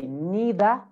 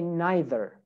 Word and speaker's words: neither: Now, next word, in British, they say neither, neither, neither, or neither, okay? But in United States, in America, we say neither or neither, neither, neither. So you realize that in America, we add the R, neither, neither.